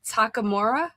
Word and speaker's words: Takamura: How would you pronounce it? Uh, Takamora. Hey, you're right on the money. Oh, I did. Yeah. Takamura at your service.